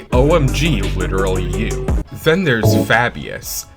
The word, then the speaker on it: Fabius: Then there's Fabius. Fab, being the first syllable in his name, makes his name sound a little zesty in my humble opinion.